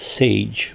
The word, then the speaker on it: Sage: suggestion because it means sage. Right? Here's how to say it. S like the S in sun. Sage. Sage like the word age. So together sage.